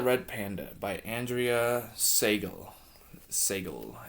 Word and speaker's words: Seigal: Seigal, I think that's how you pronounce it. Seigal, not Steven Seagal.